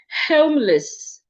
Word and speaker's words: homeless: The E in L E L E S should be reduced as well to a sure.